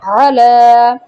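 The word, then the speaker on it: عَلَى: এছাড়াও এখানে আলা লেখা আছে, এখানে একটা কমা দেওয়া আছে, তবে এই শব্দটাকে কি আমি আলা বলি? না, বলি না, বলি আলা।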